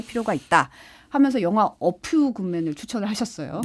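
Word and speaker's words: A Few Good Men: 하면서 영화 어퓨 굿맨을 추천을 하셨어요. 예, F 발음 주의해야 됩니다. 네, 어퓨 굿맨, 예.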